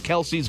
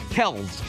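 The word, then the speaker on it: Kelce: meanwhile did you know we've been saying Jason and Travis Kelsey's last name wrong this whole time what is it kelky it's Kels Kels just simply Kels well not anymore yeah apparently Kelsey started with their dad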